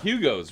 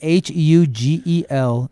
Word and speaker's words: Hugelkultur: It's a German term. It's called Hugel. It's spelled HUGELKULTUR. Hugelkultur. Way more letters than Hugo.